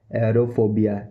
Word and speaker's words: aerophobia: इसको English professional language में बोलेंगे एरोफोबिया, एरोफोबिया, एरोफोबिया, एरोफोबिया, एरोफोबिया।